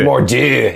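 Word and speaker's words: Mor'du: So the existence of the demon bear, I forgot his how is it pronounced? Mordieu, yeah.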